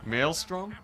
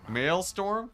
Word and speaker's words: maelstrom: more attrition at tea Maelstrom male storm it's not male storm it's like Maelstrom I think it's male